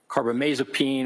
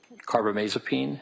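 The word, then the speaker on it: carbamazepine: I mean for example lithium or carbomasopene or valproic acid those are all mood stabilizers.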